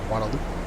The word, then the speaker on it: Guadeloupe: That's called Guadeloupe, or Guadeloupe. as they pronounce it, Guadeloupe.